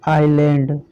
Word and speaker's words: island: देखिए लिखा है ISLAND। अब देखिए ये I हो गया, इसको लैंड पढ़ेंगे, इसको क्या पढ़ेंगे, आइलैंड।